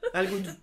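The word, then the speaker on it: Algodoo: Il y a deux O à la fin. Tu te méfies maintenant par rapport au prononciation. Voilà. Non, c'est A-L-G-O-D-O-O. Voilà. Algodo, d'accord, Algodou. D'accord, voilà. D'accord. C'est Algo et Do.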